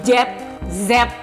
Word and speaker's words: Jet Z: engak ngerti kenapa dibacanya jet set ada yang tahu enggak ini jet Z bukan jet set Tapi orang-orang bacanya jet